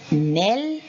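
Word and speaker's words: knell: and there is knowledge so all these k's are silent okay now you have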